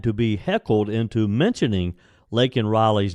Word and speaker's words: Laken: the president out during his speech Biden then mispronounced Miss Riley's name calling her Lincoln Riley and refer to the killer as an